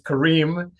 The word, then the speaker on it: Kareem: Well, first of all, just the pronunciation of my name is Kareem, but that's, my whole life I've gotten it a million different ways. So I just want to let you all know that it's Kareem.